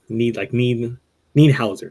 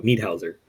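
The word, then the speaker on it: Niederhäuser: It's like need something. Need Hauser. There you go. Need Hauser. Because he's from Switzerland.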